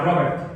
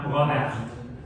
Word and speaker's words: Robert: en alemán, y Robert, porque alemán, no inglés, no era Robert, era Robert.